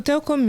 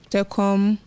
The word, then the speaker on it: Telkom: off a lot of stuff yeah um so Telcom is is one of the Bigg yes telecommunication